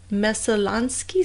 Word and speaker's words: Messalonskee: I mean, it was like a year later, in October of 2012, that police trawled the Messalonskee stream.